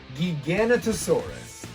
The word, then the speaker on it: Giganotosaurus: movie but i i always forget how to pronounce it gigantasaurus nope nope giganotosaurus as you can see i don't have this